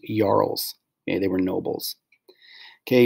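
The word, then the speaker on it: jarls: of the leader it also included yarls it's pronounced yarls okay they were nobles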